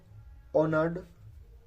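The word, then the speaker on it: honour: People loved and ऑनर्ड हिम फॉर his wisdom. तो पहले मैं आपको इसके बारे में बताऊंगा। इसको हम होनर नहीं बोलेंगे, ठीक है, इसकी करेक्ट प्रोनाउंसिएशन है ऑनर, ठीक है।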